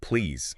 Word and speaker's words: please: But the absolutely critical detail, the one learners often miss is that please has to end with a voiced Z sound. Not a sharp unvoiced S. Ah, like please.